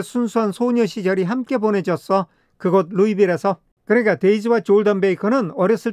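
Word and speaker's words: Louisville: 그 아이는 루이딜 출신이야 여기 루이빌리라는 지명의 s가 붙어 있지만은 에스 발음을 하지 않습니다 이렇게 S 발음을 안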